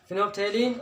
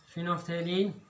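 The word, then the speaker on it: phenolphthalein: फिनोल्फ्थेलिन और फिनोल्फ्थेलिन नहीं बोलेंगे, एल साइलेंट है इसका, फिनोल्फ्थेलिन और दूसरा मिथाइल ऑरेंज।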